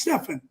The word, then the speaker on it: Steffen: name's stefan i'm saying it right right it's stefan that's fine let me ask you this question